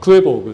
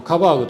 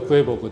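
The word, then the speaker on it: Quabaug: にですねこれ今クエボグっていうままあのカバーグとかって言われることもあるんですけどこうアメリカではクエボグって発音してますはいでこの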